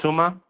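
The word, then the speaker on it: Itauma: Not how the fuck do you pronounce this dude's name? Moses. Yeah, Moses. Oh, Moses. it's Ituma.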